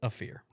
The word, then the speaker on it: Ophir: So it's Ophir. Ophir? Yep. The pronunciation spelling is AAFTH-ER. Ophir.